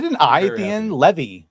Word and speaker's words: Levy: Levy as in heavy.